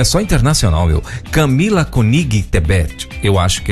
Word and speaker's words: Tebet: Esse sobrenome aí é Tebet, Tebé, ou como é que pronuncia esse? É isso aí mesmo, Tebet.